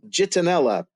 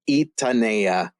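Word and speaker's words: Gitanella: a character g-i-t-a-n-e-l-l-a and they're gonna say oh jitonella jitonella or gettinella it's it's Spanish pronunciation it's super quirky from an English perspective but it's itanea and this movement is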